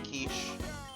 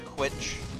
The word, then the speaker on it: quiche: I never had a quiche. I've never had a quitch. I know it's pronounced quiche. I say it this way to cause you pain.